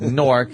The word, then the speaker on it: Newark: And he pronounces Newark. He was like, I was in Newark. It's like Nork.